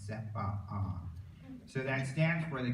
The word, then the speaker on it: CEPA: they make a point, even though normally you might say CEPA, they like to pronounce both the A's. They say no, it's CEPA.